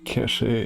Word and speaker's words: cachet: Sir, cachet is pronounced like cash. It's regional.